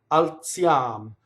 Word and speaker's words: alziam: Alziam. So now Z can either make a DZ sound or a TZ sound, right? So in this case, it's TZ, like in pizza, right?